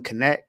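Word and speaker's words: Knecht: I've been saying Dalton Net and it's Dalton Connect.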